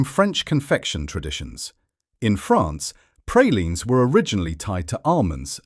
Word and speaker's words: praline: Number 10, pralines. The first mistake is the pronunciation. In much of New Orleans, you are more likely to hear something closer to praline than praline.